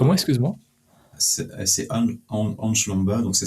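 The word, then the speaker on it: Ansh Lamba: Excuse-moi c'est Anch Lomba. Donc ça s'écrit A N SH espace L A M B A.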